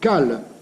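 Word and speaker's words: כל: Il n'est pas indifférent de savoir que le mot kol, voix, écrit sans haut, se prononce alors kal, se chargeant d'une signification corollaire, mais un peu différente de celle de la voix.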